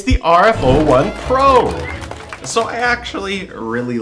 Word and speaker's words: RF01: Is that how you say it? RF01 or RF1? RF01. Okay.